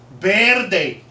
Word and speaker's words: verde: can't pronounce pork bir bir day shut up bir bir you have to roll the r that's not going to happen it's called the pork birdie pork birdie all right